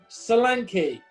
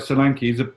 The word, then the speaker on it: Solanke: Dominic Solanke. Dominic Solanke. No more people with 3 syllables in the first name.